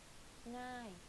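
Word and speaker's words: ง่าย: ง ่ า ย easy ง ่ า ย meaning easy, like thinking of singing, the ng sound, you use that sound in front of the word ง ่ า ย Avez-vous réservé une chambre?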